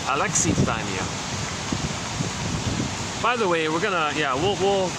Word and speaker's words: alexithymia: Officially, it's alexithymia. All this time, I've been using alexithymia for some strange reason. I didn't notice the I there. I thought it was silent.